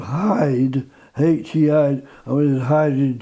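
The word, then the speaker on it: Heide: Yeah, well, it's a place called Hyde, H-E-I, I mean Hyde in Cheshire. Yes. But it's spelled H-E-I-D-E.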